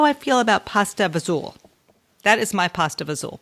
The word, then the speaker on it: pasta e fagioli: I have to tell people it's spelled pasta, then there's an E, and then there's Fagioli. So if you it looks like fagioli. Right, pasta e fagioli.